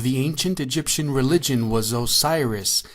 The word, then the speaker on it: Osiris: Incredibly, the name Osiris, pronounced Asar in Egyptian, was written in hieroglyphics